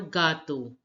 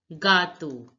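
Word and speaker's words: gâteau: French J stands for gato gato which means cake now look the the acts the circumflex accent in a does not change the pronunciation the a sound is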